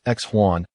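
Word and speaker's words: 喜欢: researched its meaning like is a term in the Chinese language pronounced ex Juan synonymous with affection it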